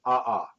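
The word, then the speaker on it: ʻaʻā: kind of lava is called aha because you pronounce both letters ah lava okay and then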